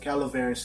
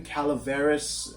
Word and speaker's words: Calaveras: And even Calaveras, the pronunciation, Mark Twain wrote his own version of the pronunciation. It's, he says Calaveras, but there's some places where it's like Calaveras. Like there's a subtle difference depending on where you're getting the story from.